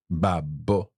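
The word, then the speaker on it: babbo: another way is to pronounce the double letters more forcefully okay okay um so for example uh the word for Dad one of the ways to say that in Itali is Bab babo mhm babo babo and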